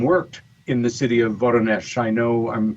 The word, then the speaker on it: Voronezh: who lived and worked in the city of Voronezh. I know I'm pronouncing it wrong.